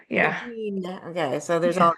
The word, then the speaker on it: Fíbín: I probably should have asked how to pronounce Fíbín Media. There's a little, how do you say that? Yeah, Fíbín. Yeah. Fíbín.